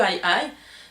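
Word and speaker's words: aye-aye: high et moi et c'est pas une faute de prononciation s'appelle vraiment le aïe aïe de gerald durrell la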